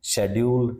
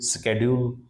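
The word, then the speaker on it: schedule: next one शेड्यूल स्ेड्यूल इसको कई type से प्रोनाउंस करते हैं शेड्यूल सिंपल तो इतना वो नहीं है एस सी एच ई डी यू एल ई शेड्यूल शेड्यूल बोलते हैं इसको स्ेड्यूल भी बोलने लगे हैं आजकल स्ेड्यूल तो एस सी एच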